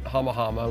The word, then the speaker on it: Hama Hama: We pronounce it Hama Hama, we spell it with one M, and the